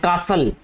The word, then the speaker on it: castle: इसके अलावा और कोई वर्ड देख लेते हैं, कासल, CASTLE। ठीक है बेटा, इसमें जो T है ये वाला, ये साइलेंट है, इसको कासल पढ़ते हैं।